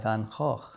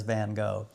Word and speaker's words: Van Gogh: selection of paintings by Van Gogh. Hey, you see, I got that pronunciation a little bit better that time. Otherwise known in America as Van Gogh.